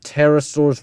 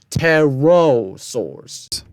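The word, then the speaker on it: pterosaurs: animals such as terrasaurs you pronounced terrasaurs wrong but thank goodness you didn't call them pterodactyl s um replace the a in between the RNs with o teros sours kingas sucus Turtles and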